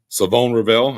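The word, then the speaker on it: Shavon Revel: Hey, real quick, Savon Ravel. I know it's spelled Siobhan. Savon. Let's make sure we get it here right.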